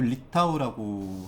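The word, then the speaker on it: RETAW: 근데이 리타우의 스펠링이 r ta t인데 요거를 요렇게 꺾어 보면 워터가 되죠. 요렇게 뒤집으면 근데 발음도 리타우라고 하는 브랜드고요.요 브랜드는 조금 재밌습니다.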